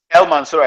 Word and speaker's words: El-Mansur: He's an architect and the principal partner at is it El-Mansur? Did I get it right? El-Mansur Atelier.